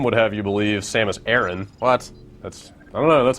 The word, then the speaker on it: Samus Aran: We're kicking it with Samus Aran, Or, as Metroid Other M would have you believe, Samus Aran.